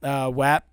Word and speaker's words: WAP: The song is pronounced WAP.